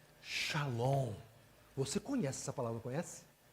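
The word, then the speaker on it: שלום: A pronúncia nesse texto seria shalom, mas a palavra é shalom.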